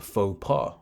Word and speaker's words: faux pas: they call it a faux pas right uh it's French so it's spelled funny let's bring it here